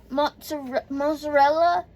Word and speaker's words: mozzarella: So, for the mozzarella, I think it's pronounced mozzarella. Hubby was saying mozzarella. No. He was putting a T in it yesterday. No. That's not how it goes, okay? There's no T.